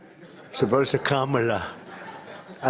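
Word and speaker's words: Kamala: It's a little different. It's Cam, right? Cam as opposed to calm.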